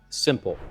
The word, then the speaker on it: SMPL: And today I want to show you an introduction to a system that we're calling Simple. That's spelled SMPL, the Simple Modular Physical Link.